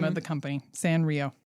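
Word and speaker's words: Sanrio: San Rio. I I always thought it was Sarnio.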